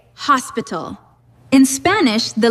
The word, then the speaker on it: hospital: Let's take the word hospital. In English, we say hospital. In Spanish, the letters are identical, but we pronounce it hospital. The H is completely silent, and the emphasis goes to the end.